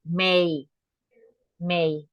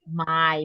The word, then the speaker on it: May: continue with the next May easy right May May but remember don't say my because some people it's common that we say what we see right